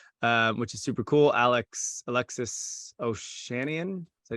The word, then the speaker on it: Ohanian: Alexis Ohanian. Is that how you say his name? Ohanian.